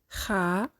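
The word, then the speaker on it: خ: Kha sound pronounced from the top part of throat. So as you see, the root of the tongue is a little back down but didn't touch with the palate.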